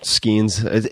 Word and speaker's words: Skenes: So, my family, we grew up saying it Skenes. Skenes. But in Scotland, they say Skene. Skene is the proper way to say it.